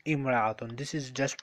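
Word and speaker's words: امرأة: The singular form of this yes when we add alif lam it will be pronounced al mar'atu when we don't write alif lam it will be pronounced imra'atun this is just pronunciation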